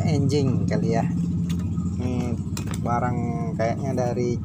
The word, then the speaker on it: Anjing: motor atau mobil mereknya tulisannya di sini Anjing Tapi bacanya enjing ka Lia Semarang kayaknya